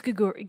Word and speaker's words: Gaguri: It's Gaguri. Gaguri. Okay. Not so like Gregory.